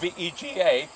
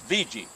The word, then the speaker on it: Vega: It's spelled V-E-G-A. People say Vega, but local people say, it's VG.